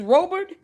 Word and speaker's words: Robert: If it's pronounced Robert, okay, fine. But is it? She got Robert. R-O-B-E-R-T came up. Is Robert?